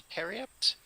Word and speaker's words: periapt: Did we say it's a periapt?